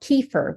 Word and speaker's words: kefir: Another product is called kefir, which is spelled K-E-F-I-R.